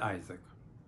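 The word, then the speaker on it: Isaac: اور انگلش میں پھر کہا جاتا ہے آئزک.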